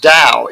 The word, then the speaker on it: Dao: way with dao so it's pronounced dao even when it was spelled tao opinion system pronounced spells